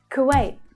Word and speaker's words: Kuwait: Kuwait. Kuwait. That's the as in book vowel sound. Kuwait. The a vowel sound.